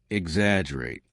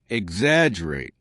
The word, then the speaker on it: exaggerate: number seven is exaggerate exaggerate repeat after me exaggerate remember there's a double g in the spelling but we do not pronounce the G right exaggerate exaggerate excellent now what does exaggerate mean do